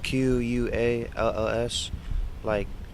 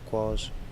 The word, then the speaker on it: Qualls: and my last name is Qualls, Qualls, like falls, but with the Q, Qualls.